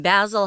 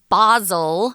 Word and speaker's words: Basil: characters in the book, but we're pronouncing it differently than we would in America. Oscar Wilde was Irish, but anyone in the UK in general, even today, they pronounce this word basil, and we say basil, which is an herb that you cook with.